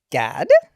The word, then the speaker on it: Gad: She is all about female hormones, and this is her IG is the Period Whisperer, and this is Bria Gad.